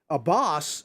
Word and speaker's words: Abbas: not uh mr um abbas it rhymes with a boss is hamas so you